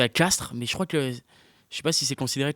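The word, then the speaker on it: Castres: ils ont fait une finale il faut se prononcer castre mais je crois que je sais pas si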